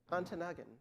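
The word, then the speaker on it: Ontonagon: Um uh uh or uh Antanagan. Yes. Thank you. Did I get that right? Excellent pronunciation.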